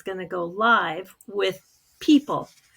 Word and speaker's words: PYYPL: to go live with People. So it's PYYPL, pronounced like people.